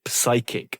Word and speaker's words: psychic: the Oxford English Dictionary, might be actually pushing people to pronounce the P, the silent P, in words of Greek origin. So like psychology. We have good evidence that someone like Murray actually pronounced it psychic and, pneumatic.